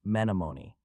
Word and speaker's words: Menominee: Let me see how The correct pronunciation is Menominee.